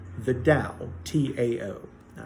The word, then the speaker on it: Tao: Taoism believes in something called the Tao, T-A-O, all right? It's pronounced like it's D-A-O-W, Tao, but, it's spelled Chinese, so it's T-A-O.